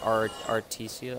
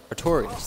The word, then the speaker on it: Artorias: I know I'm gonna pronounce it wrong, but there's the knight like Artesia or Artorias. Artorias, that's it.